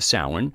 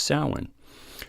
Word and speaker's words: Samhain: Irish and Celtic words like salmon okay it's pronounced salmon so you go who's that SW Egan this the way they spell it is s am h AI and looks like Samhain but it's pronounced salen so even though I know that candle mouse